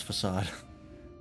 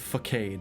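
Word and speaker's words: façade: time before I learned how to pronounce facade I went with facade for a long time all right uh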